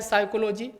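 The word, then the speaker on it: psychology: अगला, which of the following word does not silent letter letters, यहाँ पर भी पी साइलेंट है, साइकोलॉजी।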